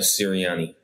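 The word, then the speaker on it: Sirianni: last name again always mess it up uh siriani siriani um and it seems like cyriani and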